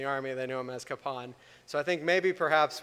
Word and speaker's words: Kapaun: uh it's likely i will slip back into capin although i try to try to call him kapon now as well um either way what i'm